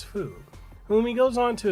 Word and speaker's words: Fu: e.t like alien named fu pronounces foo when he goes on